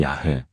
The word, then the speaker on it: 야훼: 학술적으로 원래 발음에 가깝다고 보는 것이 야훼.